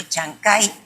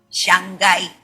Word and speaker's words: Chancay: apet plantean el puerto chancay va a ser el Singapur de América Latina incluso pronuncian mal y dicen Shanghai Shanghai cierto lugar Pero esto es